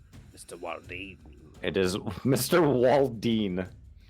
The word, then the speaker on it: Walden: Walden. I've heard his name pronounced and spelled so many different ways. Walden, Waldine. Wow. I think Walden.